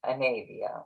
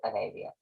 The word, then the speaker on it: Anavia: And the one that is opening on December 21st of 2021 is the Divine Diva Anavia or Anavia, depending on how you want to pronounce it. She pronounced it to me as Anavia.